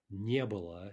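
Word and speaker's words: не было: here we get Ebola Ebola note the stress is on the near there new Ebola plus the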